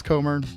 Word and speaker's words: Comer: Is that how you pronounce Comr? I should have checked. Yeah, you got it. Okay, you got it. I should have checked before I started recording. And uh so joined today by Justin Comr and Gavin Aronson, returned guest here.